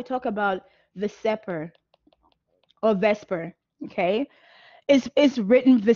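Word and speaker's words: VSEPR: after that we talk about the supper or Vesper okay is is written for separate but we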